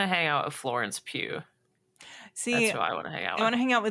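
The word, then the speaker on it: Pugh: Pew but El Elena are we pronouncing her last name right yes I looked it up that's unfortunate I guess though pug just P I mean I love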